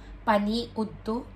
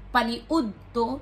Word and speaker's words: paniudto: Paniudto. Paniudto, meaning lunch. You know, the way you pronounce the word makes you sound like a Bisaya speaker. So, it's not paniudto. It's paniudto. Paniudto.